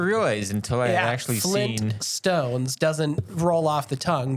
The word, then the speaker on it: Flintstones: until I actually seen Flint Stones doesn't roll off the tongue but Flint stones yeah so it makes sense that it is Flint Stones because Flint as in the stone yeah are we correct